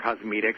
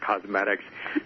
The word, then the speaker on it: Cosmedix: Everyone wants to call it Cosmedix, but it is actually pronounced Cosmedix.